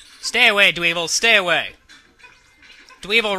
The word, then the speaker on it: Dweevil: Dweevil rhymes with evil, which is bad.